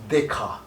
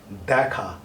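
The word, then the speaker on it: দেখা: If you write in English, it will be Dekha. It is not Dekha, it is Dekha.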